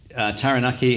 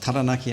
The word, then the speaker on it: Taranaki: to the water skiing taranaki has got taranaki i should say it's the um the english coming out i want to talk